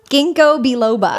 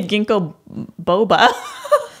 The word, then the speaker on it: ginkgo biloba: out what's our message today let me Shuffle ginkgo biloba oh okay is that how you pronounce it yeah I would always say ginkgo Boba there's an apple a ginkgo biloba below okay